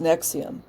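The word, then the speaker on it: NXIVM: the first time about her involvement with Nexium pronounced Nexium the pyramid scheme turned sex cult which also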